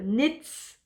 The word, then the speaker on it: knits: Donc montrez-moi sur Instagram votre petit coin tricot, taguez-moi @mimi-knits, et on ne prononce pas le K, je le redis. En anglais, le K devant le N, on l'entend pas, hein. Donc knits, knits.